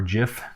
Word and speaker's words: GIF: you can also do animated gif or Jif depending on you like to pronounce that same type of thing